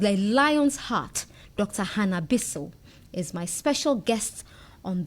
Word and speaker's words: Bissiw: Well, it's Bissiw. Bissiw. Bissiw. Okay. Bissiw. It has a meaning, yeah. Bissiw. Bissiw. But I think it's a heavy name, so when people pronounce it anyhow, I take it. Really? The only thing I don't take is when they add one S to my one So you don't want the double S.